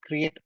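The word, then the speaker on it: Cre8: My name is from Create IoT. The number 8 that's we pronounce as Create.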